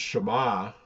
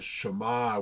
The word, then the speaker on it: Shema: it uses the word Shema. If you think about it, there's two syllables there, sh and ma.